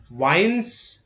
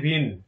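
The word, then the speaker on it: Wien: ফার্স্টেই আছে ওয়াইন্স ল of radiation. ইংলিশে ওয়াইন্স উচ্চারণটা, কিন্তু বাংলায় উচ্চারণ হয়ে যায় ভিন ভিন, ভিনের বিকিরণের সূত্র।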